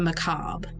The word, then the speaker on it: macabre: And how do you say it? Macabre, as Google says. Macabre? Macabre. I like to just say macabre because it sounds like my corn on a cob and it makes me laugh.